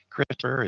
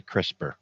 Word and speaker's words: CRISPR: CRISPR is spelled CRISPR. There is no E.